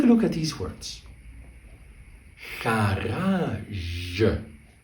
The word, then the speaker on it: garage: Garage.